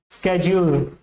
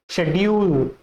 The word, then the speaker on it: schedule: अगर इफ you have more inclination toward American English then you should say स्केड्यूल, स्केड्यूल, क्योंकि American जो American aspect में, American pronunciation में इसको स्केड्यूल बोला जाता है, स्केड्यूल।